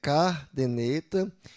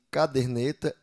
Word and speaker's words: caderneta: Estrupo em vez de estupro, aí tem eh cardeneta em vez de caderneta e pneu em vez de pneu.